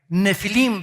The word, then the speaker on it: Nefilim: Nefilim se pronuncia.